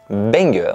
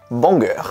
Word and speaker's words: banger: RAF qui m'a appris le mot benger benger que je prononçais initialement Banger voilà et que maintenant